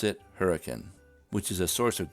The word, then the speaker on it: Hurricane: Natives of Hurricane, Utah pronounce it hurricane, which is a source of great amusement to